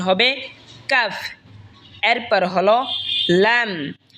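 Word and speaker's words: لام: এরপর হলো লাম, লাম জিহ্বার আগার কিনারা সামনের ওপরের মারির দাঁতের সঙ্গে লাগা উচ্চারণ হবে লাম।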